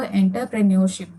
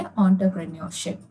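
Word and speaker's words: entrepreneurship: ठीक है, सी कभी कभी लोग इसको एंटरप्रेन्योरशिप भी कहते हैं, बट इसका करेक्ट प्रोनाउंसिएशन है एंटरप्रेन्योरशिप। ठीक है, आपकी वोकेबलरी के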